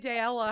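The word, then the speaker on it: Daella: but you can say daela how you want that's how i say it's just it rhymes with paella right the matter one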